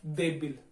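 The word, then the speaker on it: débil: इसका जो दूसरा एग्जाम्पल है वो है देबिल, देबिल, ठीक है, देबिल। देबिल का भी उच्चारण देखिए, दे ए ज्यादा बोल रहा है, बी ई थोड़ा कम होता है, ठीक है।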